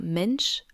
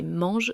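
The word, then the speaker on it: Mensch: Je pars bien sûr de Mistral cofondé par Arthur Mench, prononcé mange si vous voulez le faire rager.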